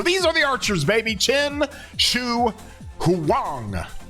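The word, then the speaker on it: Qin Shi Huang: Chin Shu Huang. Chin Chu Wang. That's how you pronounce his name from what I've been told and how I've been corrected.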